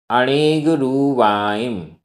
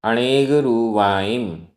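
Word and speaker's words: अणेगरूवाइं: इह लोइयाइम, इह लोइयाइम, इह लोइयाइम, पर लोइयाइम, पर लोइयाइम, भीमाइम, भीमाइम, अणेगरुवाइम, रा में बड़ी ऊ की मात्रा है, अणेगरुवाइम, अवि, अवि, सुब्भी, आधा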